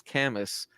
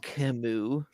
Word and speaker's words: Camus: his name to me that's just how I read it was canvas and I got so shamed uh it's Camus like